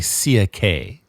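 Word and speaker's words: Székely: He's got a It's a Hungarian name. His name is actually Szekely. It's spelled that with an S. pretty cool. And that's why he calls himself Louis C.K.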